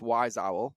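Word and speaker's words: Wyzowl: Which brings me to the next study from a data customer analytics company on behavior, which is Wise Owl. It's spelled W-Y-Z Owl.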